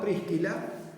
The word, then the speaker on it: Priscila: esposa que Nosotros llamamos Priscila pero que habría que decir en realidad tres kilas así sería pronunciado probablemente el latín no Así que cuando